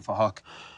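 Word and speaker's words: Phuc: We're spelt with a PH, so it sounds like Fahok.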